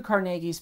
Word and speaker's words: Carnegie: people typically say Andrew Carnegie but he was from Scottish descent so it's pronounced carnegi